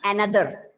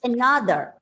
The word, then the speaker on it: another: another another it's not another and it's another so from the word another the starting vowel it's given a schwa sound the second syllable is stressed another this word can